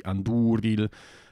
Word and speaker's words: Andúril: It has to be Anduril because the U is a long vowel.